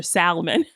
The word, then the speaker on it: salmon: I saw something online when someone says, like, what, why does it even matter if we pronounce the L in salmon anymore? Go ahead with your salmon.